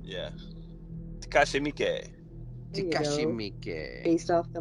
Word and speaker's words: Takashi Miike: Yeah, Takashi Miike.